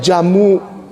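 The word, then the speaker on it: djamoe: Ada ada D J E D J A M O E bacanya jamu.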